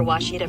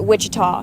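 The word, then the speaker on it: Ouachita: Searching for Washita Baptist University. Back in Texas, everybody pronounces it Witchah. But really, it's how would you pronounce it?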